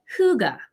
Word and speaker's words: hygge: It's also borrowed from the Norwegian language, and it's called Hygge. And there's the right way to pronounce it.